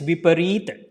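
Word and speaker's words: Viparita: So it is called reverse means Vipareeta. So it is a V, per, 2 times E, right? So this E sound will be prolonged.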